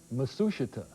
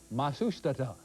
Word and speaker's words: Matsushita: Now, I called him Matsushita. That's the way he said originally that he would like his name pronounced. If you mispronounce it incorrectly, you get all sorts of bad things happen. I heard Matsushita and Matsushtata. So pick the one that you like right there.